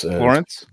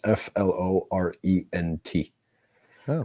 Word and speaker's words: Florent: Yeah, it's Florence. No, it's not Florence. It's Florent with a T, so it's Florent. So you don't pronounce the T.